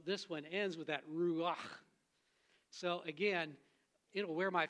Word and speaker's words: ruach: And to pronounce it, it's kind of like that chesed. It's got that CH sound in Hebrew that is a cross between the C and the H, and you get that guttural sound, and so this